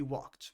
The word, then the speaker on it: walked: He walked. There are two verbs on this page where uh the ed is pronounced as a t sound. Uh they are walked and looked.